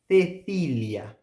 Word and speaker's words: Cecilia: Cecilia, Cecilia. So now I am producing the th sound.